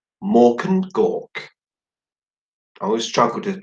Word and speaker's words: Mork and Gork: talented and it's called Mork and Gork I always struggled with pronounce that I've got to say it like an orc apparently so Roshan Roshan